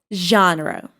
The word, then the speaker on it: genre: How do you pronounce this word? Genre. No, it is genre.